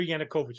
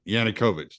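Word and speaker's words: Yanukovych: now in power right Victor yanakovich I said his name wrong victoriana coach yeah yannickovich there you go yeah um April April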